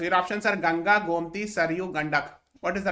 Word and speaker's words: Saryu: So your options are Ganga, Gomti, Saryu, Gandak. What is the right answer? River that passes through Ayodhya. The right answer is Saryu River. कहीं कहीं पे सरजू भी लिखते हैं, ठीक है?